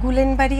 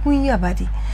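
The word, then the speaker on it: Guillain-Barré: তো দেখুন গুলেনবাড়ি সিনড্রোম এটা গুললেনবাড়ি আমি বলি না। এটা হচ্ছে গুইয়াবাড়ি। উচ্চারণটা যে যেভাবেই করেন করতে পারেন।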